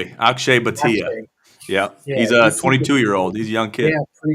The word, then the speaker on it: Akshay Bhatia: Akshay Bhatia.